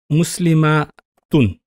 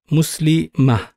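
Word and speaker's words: مسلمة: But if I do not pronounce the vowel at the end, which is the rule in Arabic, whenever you stop, you do not pronounce the final vowel.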